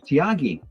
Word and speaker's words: Tiagi: Chantelle from Tiagi. Is Tiagi your company, Chantelle? It is, yes. Did I pronounce it correctly, or did I completely butcher it?